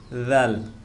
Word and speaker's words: দাল: দাল, দাল, যখন এই দাল পড়ব তখন জিহ্বার আগা সামনের দিকে একটু বের হয়ে যাবে।